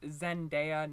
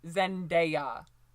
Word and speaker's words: Zendaya: as any woman of color, Zendaya, and it's pronounced Zendaya, not Zendaya, not Zendaya or whatever. It's Zendaya, okay?